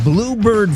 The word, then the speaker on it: Bloubird: Bloubird is spelled uniquely, B-L-O-U, bird, B-L-O-U, Bloubird. Think of Lou, Harper Lou.